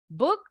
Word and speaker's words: book: Nasrina, book or a book? We can book our ticket online, said the father. Yes, book. U-nya pendek, jadi nggak perlu monyong.